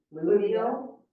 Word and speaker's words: fluvial: and I'm sure as engineers, y'all can probably pronounce this better than me. There's the 3 common flood types are fluvial. Yeah, fluvial.